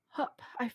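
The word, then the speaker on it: Höfn: It's spelled HOFN, and neither the F nor the N is in the word. Oh. It's like hup. Hup. It's like you're just breathing.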